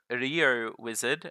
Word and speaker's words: Rio Wizard: To start us off, we have Rio Wizard, I believe is that how you say it?